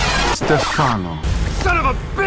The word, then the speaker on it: Stefano: But not also his real name is Stefano. Son of a That pronunciation made me a bit triggered.